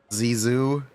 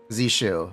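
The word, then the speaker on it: Zhu Yuan: Zoo. Okay. So, is this Okay, question. Is his name is Zoo or Zshu? Is this Zshu or Zoo? Zu. Okay. Zu Jen.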